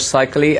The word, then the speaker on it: Seikaly: butcher my last name I'm going to try and keep it not butchered by killing it's like Holly that's like close enough good evening i'm Seikaly i'm the new CEO